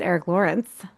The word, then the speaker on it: Erick Lorinc: Um well, and our special guest, Eric Lawrence with us. Yeah, thanks for pronouncing it correctly.